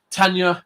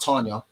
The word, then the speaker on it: Tanya: It's Tanya, not Tanya.